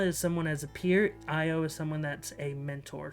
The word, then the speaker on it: Io: Next up, the penultimate character is Io, or Io, I-O. I always pronounce it Io.